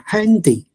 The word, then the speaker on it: Hand: 不过德文嘅发音系 hand 啊。